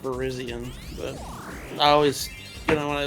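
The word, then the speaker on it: Virizion: Actually, it's pronounced Verizion, but I always, when I look at this Pokemon's name, I'm like, oh, that's Verizon.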